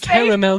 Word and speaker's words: caramel: with some caramel toppings it's spelled like caramel not caramel caramel sounds so much more like pretentious but there is an a in the spelling it's silent oh whatever that could